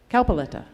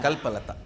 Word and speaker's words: Kalpalata: Kalpaletta. I always mispronounce her name. So Kalpalata means Kalpaletta. Kalpalata. Like a Kalpataru, Kalpalata.